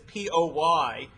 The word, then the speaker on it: Poynter: The name of the case is United States versus Poynter, and God forbid you phonetically spell. It's Poynter, out of the Sixth Circuit.